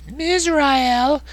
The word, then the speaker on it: Mizrael: Mizrael rhymes with Israel.